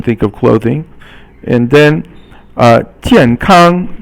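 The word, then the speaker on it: 健康: And then 健康, 健 is fourth tone, and 康 is first tone, and it means healthy.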